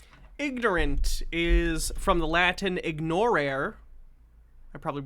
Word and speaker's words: ignorare: Classical pronunciation would be ignorare.